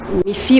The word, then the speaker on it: Miphie: Mifi officiel, le petit Mifi officiel. Le Mifi là ça s'écrit M-I-P-H-I-E officiel.